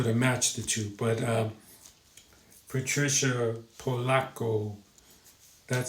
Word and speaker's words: Patricia: And look at the cover one more time by Patricia or Patricia. Patricia is how it would really be pronounced if it's Italian. Polacco.